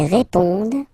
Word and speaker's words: répondent: Ils répondent. So same thing, here classic ending, ENT, but then you don't pronounce it.